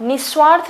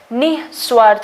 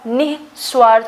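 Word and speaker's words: निःस्वार्थ: निस्वार्थ नहीं होता है, निस्वार्थ होता है। तो ये जो ह यहाँ पे प्रोनाउंस होना चाहिए जो विसर्ग के एवज में हम बोलते हैं। तो नी के बाद जो है वो विसर्ग, और विसर्ग के बाद जो है वो स्वार्थ, तो निस्वार्थ होता है ये।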